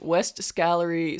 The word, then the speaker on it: West Gallery: the actual official name we've been saying it wrong is West Gallery school for independent boys